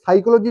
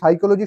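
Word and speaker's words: psyche: তো এবার দেখো কি বললাম না, এই যে সাইকোলজি যে শব্দটা, এই শব্দটা কিন্তু উৎপত্তি হয়েছে দুটো গ্রিক ওয়ার্ড থেকে এই সাইকোলজি শব্দটা কিন্তু উৎপত্তি হয়েছে। দুটো গ্রিক ওয়ার্ড কি কি? একটা দেখো সাইকি, ভালো করে উচ্চারণটা মনে রাখবে, সাইকি, সাইকি।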